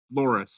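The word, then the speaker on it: Lhoris: make sure I said it it's glorious right Loris yeah yeah l h o r i s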